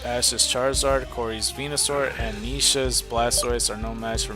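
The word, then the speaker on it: Nesha: Um, I didn't know the lady name was Nisha. I guess I could have figured it out, but it's spelled differently. It's N E S H A.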